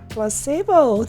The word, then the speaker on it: placebo: Placebo. The stress is on the middle syllable.